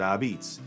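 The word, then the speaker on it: apizza: says Ah apostrophe pizza but it's as we pronounce it abits and it's the only evidence we've ever found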